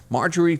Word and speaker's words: Marjorie: Do you pronounce her name Marjorie? Uh-huh. Marjorie Taylor Greene.